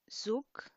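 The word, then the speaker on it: གཟུགས: So the ga in front is silent. Then you have a za, shabchu, zu, ga, sa, zuk. So you see the G at the beginning and the S at the end are both silent.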